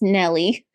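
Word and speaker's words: Gnelly: thank you you're welcome that's Nelly spelled with a G you know like gnome because she's a gnome yeah gelli I made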